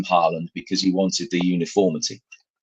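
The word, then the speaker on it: Haaland: to the extent that erling who's whose name is Halland uh wanted it because he was so sick of it being mispronounced he actually asked people to call him Harland because he wanted the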